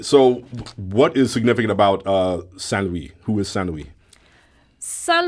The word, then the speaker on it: Saint Louis: Saint Louis. Saint Louis.